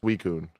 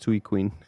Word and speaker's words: Suicune: How do you pronounce the Sui one? The Sui Suicune. Suicune. I said Sui Queen.